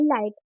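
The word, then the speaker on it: light: टा के रूप में लाइट जी और एच क्या होता है इसमें साइलेंट होता है टी को पढ़ेंगे टा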